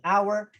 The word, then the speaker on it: hour: Kasi like what I've said, yung letter H may silent letters po siya na hindi natin binabanggit yung H, but yung O ng honest, yung O ng hour, yung E ng air, and then O ng herb.